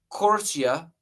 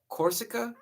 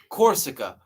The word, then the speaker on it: Corsica: So Napoleon Bonaparte was who was born in Corsia. I think that's how you say it. Corsa, Corsica, Corsica, but the verses are vague and could fit multiple figures.